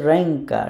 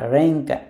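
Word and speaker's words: ręka: সো শব্দটার উচ্চারণ হচ্ছে র্যাঙ্কা, র্যাঙ্কা, এও।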